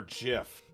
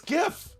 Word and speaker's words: GIF: graphics interchange format and graphics is a hard g where is this pronounced